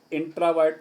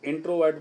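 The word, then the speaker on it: introvert: इंट्रावर्ट जिसको हम लोग इंट्रोवर्ट पढ़ते हैं, इंट्रावर्ट है सही उच्चारण।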